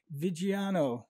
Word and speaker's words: Viggiano: And today I am delighted to be joined by and Viggiano. Is that the correct pronunciation?